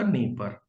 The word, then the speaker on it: Dnieper: और the largest river of Ukraine, तो ये जो लार्जेस्ट रिवर ऑफ यूक्रेन है ये पड़ जाएगा आपका नीपर, नीपर, DNIEPER, नीपर silent है।